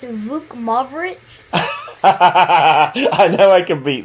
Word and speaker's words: Vukmirovic: It's Vukmirovic. I know I can beat that. All right, I think it's Vukmirovic. Close enough, it's Vukmirovic. Oh, it wasn't too bad.